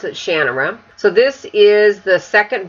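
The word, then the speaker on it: Shannara: sort of Shan of shanara or as Terry pronounced it shanara so this is the second book in The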